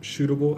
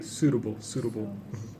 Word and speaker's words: suitable: You said what is most shootable activity? It should be suitable. Yeah, more of an S sound.